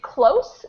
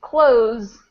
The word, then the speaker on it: close: This first one is close, very close, with an S sound, close. And the second one is close, with a Z sound.